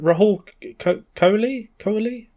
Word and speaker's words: Rahul Kohli: I can never remember how to pronounce his name properly. Is it Rahul Kohli?